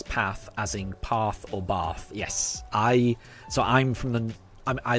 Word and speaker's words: Bath: But I am very well aware that you do not pronounce it Bath, you pronounce it Bath. That's how it's supposed to be pronounced.